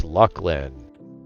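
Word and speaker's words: Luclin: that but that's a Luceland zone so we won't see that. I know I said Luceland everybody and everyone's going to tell me it's Lucklin. I say Luceland.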